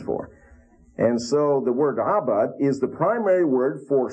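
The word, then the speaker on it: עבד: We have the word abad, and you pronounce it that way with the throat. It kind of sounds like you're being strangled.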